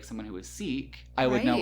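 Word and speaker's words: Sikh: like someone who was seek I would know right away because they had would usually have the silver now I heard it's actually pronounced sick um not seek so I say whatever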